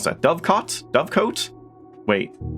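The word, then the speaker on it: Dovecote: I forgot to check how you pronounce that. Dovecot? Dovecoat? Wait. Dovecot.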